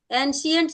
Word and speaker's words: ancient: Is it right pronunciation? Manpreet and Sony. Ancient. आपने क्या बोला? Yes. Ancient. Ancient China.